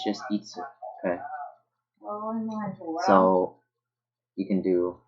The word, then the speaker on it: 五: This kanji means 5. It's itsu or go. There's no ik. It's just itsu.